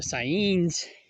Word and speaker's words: Saanen: However, the Saanens or the Saiyans, is how it's properly pronounced.